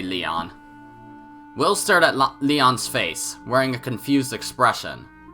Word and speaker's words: Lion: Lion? Who the heck are you? It's written as that, but pronounced Leon.